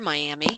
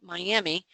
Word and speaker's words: Miami: to do this from Miami which are Miami so let's listen to this okay well we know we don't say Miami for Miami Texas it's miam so let's go in